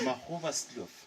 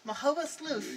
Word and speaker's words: Magoebaskloof: Magoebaskloof. Magoebaskloof.